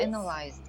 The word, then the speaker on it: analyzed: Analyzed. Analyzed. There. So you know now the differences of these words or how it should be pronounced.